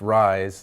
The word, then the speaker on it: Reye's: aspirin can call us Reye's syndrome spelled capital re ye s but pronounced rise like I rise in the morning and this aspirin at